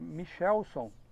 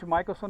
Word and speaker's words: Michelson: Essa é a pronúncia, mas minha mãe não sabia, e ficou Michelson por causa dela.